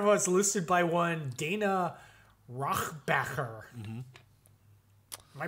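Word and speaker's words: Rohrabacher: So, what happened when Yakov Smirnoff was listed by one Dana Rochbacher. Mm-hmm. Am I pronouncing that correctly?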